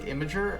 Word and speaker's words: Imgur: then we'd have to imgur that's just pronounced like imager i thought i always